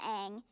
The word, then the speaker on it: Aang: so what's your name that rhymes with mang and you've got some pretty big ears don't you i guess don't be modest they're huge well aang it's very nice to